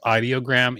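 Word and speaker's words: Ideogram: My favorite tool to use for imagery is Idoggram. Um, which is I guess I I guess they call themselves audiogram, even though it's spelled idiogram.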